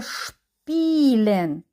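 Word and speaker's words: spielen: не перед нами слово шпілен с і п в цьому випадку ми не читаємо с а буде ш шпілен і довжене дає нам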